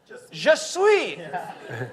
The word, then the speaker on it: Je suis: It's French for I am. It's just sweet. Je suis.